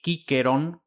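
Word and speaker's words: Cicero: Así en griego kensor con capa por el latín kensor que da el español censor y kikeron con capa las dos por Kikero. Incluso tan tarde como el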